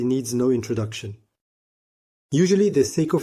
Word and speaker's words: Seiko: The Seiko SNKK52 automatic watch is a Japanese watch, rare and highly sought after. If its nickname Seiko rhymes with the Patek Philippe Aquanaut model, the shape of